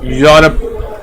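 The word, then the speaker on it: Europe: अगर मैं इसको प्रोनाउंस करूं तो इसमें मैं प्रोनाउंसिएशन कैसे होगी, यूरोप, इसमें ई जो है वो मेरा साइलेंट होता है, तो हम लोग क्या पढ़ते हैं, यूरोप।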